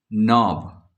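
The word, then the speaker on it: knob: नॉब, के गायब है।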